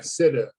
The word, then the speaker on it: Sitt: Martin Sitt, is that how you pronounce his last name? S-I-T-T? Sitta.